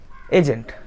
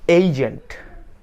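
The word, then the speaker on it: agent: এজেন্ট, আমরা বলি এজেন্ট, কি হবে? এইজেন্ট, এইজেন্ট। ওকে?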